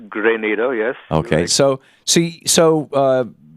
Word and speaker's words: Grenada: up around Grenada right you're absolutely correct it's not Grenada no the city in space it's great NATO yes okay so see